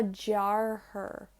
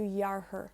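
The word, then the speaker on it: dheartháir: the J sound that D-E gets. Ma jarher. Whereas when I have the H on jarher, it goes smoother. It flows from ma into yarher. Ma yarher. Because when you say Y, when you pronounce Y, you kind of keep your mouth open. So ma yarher.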